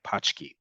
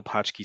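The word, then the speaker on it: pączki: Eastern European doughnut um I forget how to pronounce it correctly in Polish but it sounds like pki um you've probably heard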